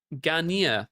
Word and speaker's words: Ganea: Okay, so Sergeant, it's pronounced Garnier. All right, there we go. I apologize. Hello, Sergeant Ganea.